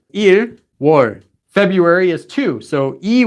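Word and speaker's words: 유월: January is just 1 you war February is too so II warned and so on there are some exceptions six for June is you war it's not u k-- and ten is she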